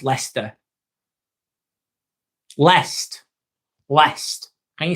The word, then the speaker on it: Leicester: I don't know how to pronounce leester.